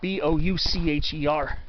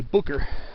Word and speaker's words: Boucher: this uh lookout called bucher hill b-o-u-c-h-e-r people a lot of times will pronounce the boucher but it's actually booker and that's where you'll